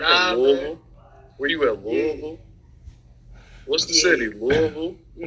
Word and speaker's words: Louisville: I feel like you got one too many syllables.